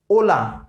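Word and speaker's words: hola: in Spanish ठीक है इस ऑलवेज साइलेंट स्पेस लाइक ओला ओला मीटिंग है हाय मिस ग्रिट करें हेलो ओके तो यहां पर जो आपका एक है वह साइलेंट हम प्रयास करेंगे उसे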